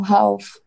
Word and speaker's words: half: No, half. Okay. Half. Half. Half. O L half. A gente não pronuncia, half.